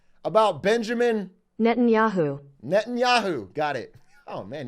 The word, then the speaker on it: Netanyahu: see it make sure I get it right pronounce about Benjamin Netanyahu Netanyahu got it oh man he's got a